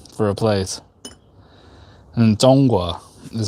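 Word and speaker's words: 中华: And Zhonghua is how you say China, and that means like the center.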